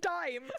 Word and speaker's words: Dain: Even Dain, like, I was like, Dain, like, the chocolate bar? Like, you mean dime? Like, down that route. Yeah, that was the inspiration for me trying to pronounce his name. The chocolate bar. He's called Dime Aetos now.